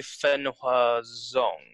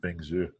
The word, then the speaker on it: Feng Zhu: When I first started, do you know Fen Hua Zong? Feng Zhu? No. Yeah. I thought you just really butchered Feng Zhu.